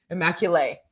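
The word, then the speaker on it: Immaculée: immaculate is that how we say her name immaculae immaculae okay immaculae yeah okay immaculate and she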